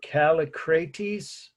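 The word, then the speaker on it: Kallikrates: And I would just say Calli and then Crates. That's how I do it, if that helps anybody to break it down into syllables.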